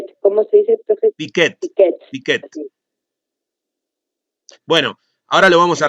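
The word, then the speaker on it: Piaget: Enseñar a plantear preguntas investigables, realizar especialmente una síntesis del proceso de generación de conocimiento científico que propone Piquet. ¿Cómo se dice, profesor? Piquet.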